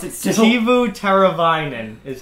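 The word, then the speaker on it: Teuvo Teräväinen: Tuvo Tervanian. All right, a little off there. Oh, now I can't say it. Shit. Tuvo Tervanian. You just told me that I can't pronounce it still. Tuvo Tervanian is how you say it.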